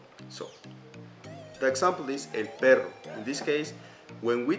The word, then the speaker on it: perro: But perro, for example, is with two R's.